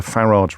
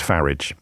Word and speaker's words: Farage: says can you please stop calling them the farage riots it makes me so Ang angry it's pronounced farage you make an excellent point Christian my apologies